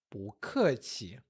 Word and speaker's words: 不客气: Para dizer de nada, 不客气. 不, subindo, 客气, desce e neutro.